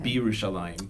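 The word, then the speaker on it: בירושלים: Birushalayim.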